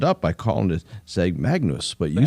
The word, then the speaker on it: Magnus: Yeah, the G and the N form one. If you can tell someone who's studied Latin before, they'll make that little pronunciation.